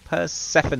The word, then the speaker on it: Persephone: Should I sing that or will Persephone?